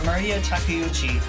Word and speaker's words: Maria Takeuchi: Maria Takeuchi. I didn't realize it's pronounced just like Maria, right?